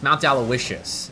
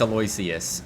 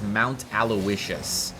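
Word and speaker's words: Mount Aloysius: First of all, uh second, it's Mount Alawishas, which is how you pronounce that. By the way, there there are a lot of people that think it's Aloyius, but um I've gotten confirmation many a time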